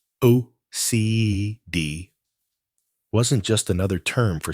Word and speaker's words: acedia: Acedia, pronounced O-C-D, wasn't just another term for sadness.